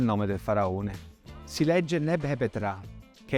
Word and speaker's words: Nebhepetra: Si legge Neb-Hepet-Ra, che è il nome di incoronazione di Mentuhotep II, primo faraone del Medio Regno, che regnò per una 50ina d'anni.